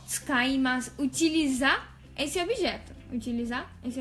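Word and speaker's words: 使います: Tem um ts. Quando a palavra começa com ts, fica um pouco difícil de pronunciar, né, pra gente, pra nós brasileiros. Tsukaimasu. Tsukaimasu. Começa por uma, né, por um fonema que a gente não tem no Brasil.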